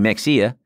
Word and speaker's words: Mexia: and they pronounce it instead of saying Mexia because the way we say here would be like Mexia you from Mexia no they say my hey up there which blew my mind